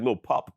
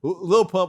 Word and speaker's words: Lil Pump: I could have sworn he said like Lil Pup. Did he just call him Lil Pup? Well, whatever it was, he didn't say it right. Lil Pimp. Lil Pump, by the way, didn't even vote.